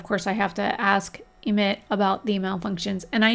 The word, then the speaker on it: Emit: YouTubers and whatnot and Sims players are calling him EMT but his name is not spelled EMT it is spelled emit e m i t is to emit so I'm going to continue to pronounce it emit if they want to